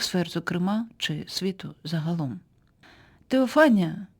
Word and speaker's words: Теофанія: Теофанія. Так, це слово вимовляється за Еразмом Ротердамським, який одним з перших спробував реконструювати фонетику давньогрецької мови. Це слово може також звучати як феофанія, за версією іншого вченого